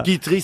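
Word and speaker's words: Quiterie: Kitri, ça fait Kitou. J'avais une amie qui s'appelait Kitri.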